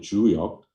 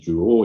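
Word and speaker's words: 周易: If you read this the book called Juo, or in Korean pronunciation we call it Juyok, but in Chinese pronunciation Juo.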